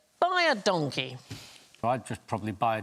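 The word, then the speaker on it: baie dankie: So what you should respond to buy a donkey is you is welcome, because it sounds like buy a donkey, but it's identical to the Afrikaans phrase, which means thank you very much.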